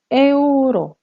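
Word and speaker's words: euro: 자, 유로는 에우로, 에우로. 그대로 발음을 해주셔야 되기 때문에 에우로라고 발음을 하십니다.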